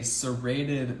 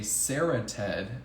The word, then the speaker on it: serrated: inside oh my gosh another word that I used to mispronounce um was a serrated knife I used to call it a sered knife so I just want